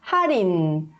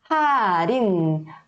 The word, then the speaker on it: 할인: Então, se a gente for ler um por um, tá? Sílaba por sílaba, a gente vai ler 할인. Mas quando a gente está lendo de uma forma natural, a gente não vai ler 할인, e sim como forma 할인.